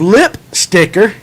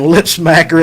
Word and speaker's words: Lip Sticker: Listen, for a couple weeks I've been saying lip smacker every time because that's one of our jigs. And he's corrected me every time, so I apologize.